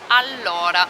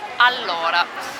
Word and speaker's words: allora: Allora. There's 2 L's, so we draw out the L just a little bit more. Allora.